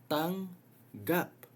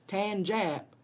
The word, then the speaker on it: tanggap: Think of it as syllables. You have the ang, tang here, which is the velar nasal, and then you add another G for the plosive. Tang, gap, anga, anga. Okay, this is not tanjap or tongap. This is tanggap.